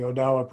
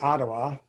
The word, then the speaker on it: Odawa: And the Odawa probably pronounce it differently too, because they got Odawa and Ottawa. It depends on what community you're in. Some people call themselves Ottawa and other people call themselves Odawa.